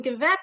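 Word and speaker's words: געוועבט: How is that second word pronounced? There's a double vav in there. Gewebt. It literally means woven.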